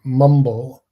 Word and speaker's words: Mwmbl: Um, next we have Mumble, which is spelled MWMBL.